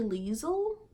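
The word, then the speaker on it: Lisle: we have sympathy for the devil by holly Lisl that's how you say it just look at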